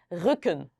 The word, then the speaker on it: Rücken: 얘는 두 개 나왔으니까 짧게 해볼까요? 각을 준비되셨나요? Rücken.